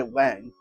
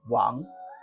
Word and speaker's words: Wang: n g and a lot of people say Wang uh but it's actually pronounced Wong the one on the right the one with